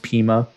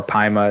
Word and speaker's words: Pima: Okay, newly released documents obtained by Wisconsin right now from I believe it's pronounced Pima or Pima. It's one of the two.